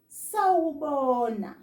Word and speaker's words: sawubona: There are 1, 2, 3, 4 syllables in the word sawubona. Sa, u, bo, na. Sawubona.